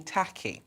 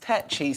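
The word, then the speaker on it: Takyi: think oh it's tacky yeah and tacky means cheap and all these things which you guys know i'm not but it's actually my surname is pronounced techie so in primary school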